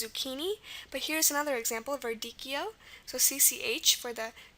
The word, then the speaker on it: verdicchio: Okay, the next word is verdicchio. V is normal. The E is representing the schwa here.